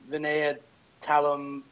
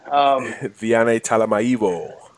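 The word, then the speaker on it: Vianney Talamaivao: For the O-line, I don't know how to pronounce this name. Vinaya Talam. He goes to USC. Vianney Talamaivo. There we go.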